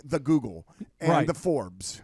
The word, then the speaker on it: Forbes: We like to go to reliable sources like the Google and the Forbes. It's called Forbes, but if you want to mispronounce it at home, you could say F-Orbs.